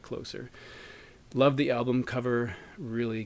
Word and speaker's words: Closer: uh Peter hook and he definitely pronounces this as closer not closer but closer love the album cover